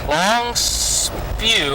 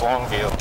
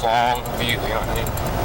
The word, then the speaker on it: Longview: Actually, I don't think I've ever heard anybody mispronounce Longview. It's kind of, it's two words, Longview.